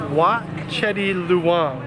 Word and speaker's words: Wat Chedi Luang: So we just made it to temple number 2, and this is Wat Chedi Luang, right? Yes. Did I pronounce that correctly?